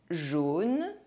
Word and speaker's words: jaune: The letters A, U are always pronounced O. Jaune.